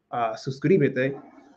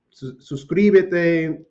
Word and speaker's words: suscríbete: And last year, I'm telling you, it was incredibly challenging to say this word because suscri, like that transition from su to cri, like I could not do it.